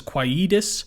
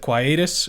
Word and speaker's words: quietus: He does say despised, and he pronounces quietus instead of quietus or quietus, which I don't like as much because the point is that if it sounds a little bit like quiet, it's like you're quieting yourself.